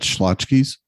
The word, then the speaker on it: Schlotzsky's: I'm just going to tell you that Schlotzsky's Deli. Oh, okay. That's what that's pronounced.